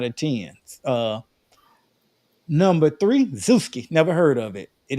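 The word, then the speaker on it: Zoosk: 10 uh number three Zusi never heard of it it is another popular site and it's spelled Z like Zoo z k Zusi is another popular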